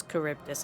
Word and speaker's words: Charybdis: It was Charybdis, okay, I did pronounce it correctly.